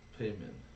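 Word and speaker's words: Paemin: you were a friend payman payman Pigman payman payman yeah payman like Raymond with a p uh yeah sure it's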